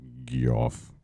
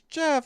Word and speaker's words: Geoff: here here and saying his name is Jeff stop saying it wrong it it's all we do here we when when he's by himself he's G but when he's with the group he's Jeff so it is what it is this is